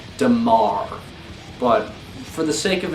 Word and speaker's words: Dimir: one i'll state this i've always called them dimir i just think it sounds cool but really the actual correct way to say from what i've been told is damar but for the sake